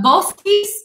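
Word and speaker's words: Boschis: we are drinking the both piece is how this is pronounced so a ch in italian is not a cha sound it's actually like a hard see a cup sounds so bolski's uh francesco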